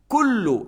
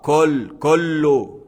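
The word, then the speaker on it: كُلُّ: Kullu, c'est pas kollo, c'est pas c'est pas kullu man alayha fan, kullu man alayha fan, c'est comme ça ressemble à OU, c'est pas O.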